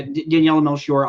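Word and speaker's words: Daniela Melchior: interesting yeah no uh how how do you pronounce her uh name again Daniella now she or yeah yeah yeah Daniella melshore I I thought she was actually a pretty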